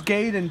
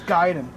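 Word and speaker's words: Gaiden: __ ] you and it's not pronounce gayen people it's giden uh wow I did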